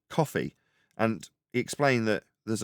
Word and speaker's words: Ko-fi: up I did but it's not Kofi although that's how it's spell it's coffee so there's a coffee